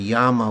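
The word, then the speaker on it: Yāma: His name is spelled with a short A, Yama, and this realm is called Yama with a long A.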